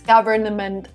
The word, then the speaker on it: government: taxes government government here we don't pronounce the n in the middle again my explanation would be too many consonants government would be too much